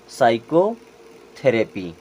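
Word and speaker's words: psychotherapy: हैं साइकोलॉजी अब यहां देखें यहां भी पी साइलेंट ये क्या हो गया साइको थेरेपी क्या हो जाएगा साइको थेरेपी साइकोथेरेपी इलाज करने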